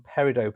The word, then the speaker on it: peridot: There should be some peridot pieces coming very soon. I pronounce it peridot, the French way. I don't think many people say peridot.